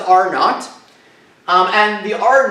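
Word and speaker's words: R₀: talk about this here this weird symbol is pronounced are not and the are not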